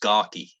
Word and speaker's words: Garhew: Oh, yeah, so it's spelled Garhew, but it's locally it's pronounced Garkey.